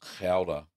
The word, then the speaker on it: Gouda: Yeah, it's Gouda. I think it's that's pronounced like that.